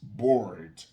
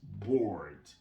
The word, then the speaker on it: bored: You are bored. Et écoutez bien la fin de la prononciation du mot bored. Il y a le de. Bored. Bored. Vous voyez ce ed? Je dois le prononcer.